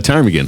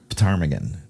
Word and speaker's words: ptarmigan: It's a ptarmigan, A ptarmigan, okay. and it's spelled P-T Armagan, ptarmigan. Oh, for real? Yeah, that it's Okay. spelled. It's spelled. The P is silent.